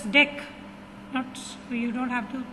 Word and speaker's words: dec: You don't have to pronounce it as this, because the spelling of December it comes DEC, so you don't pronounce it as this, you need to pronounce it as dec.